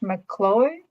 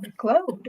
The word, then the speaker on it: MacLeod: I think it's pronounced McCloy. Cloyd. McCloy. Oh, I if don't know. you, Amy, if you can put it in there phonetically, that'd be great. McLeod. Cloyd. Oh, McCloud.